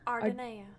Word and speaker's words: Ardenea: So, Red, is it pronounced Ardenea? Ardenea. Ardenea. Okay.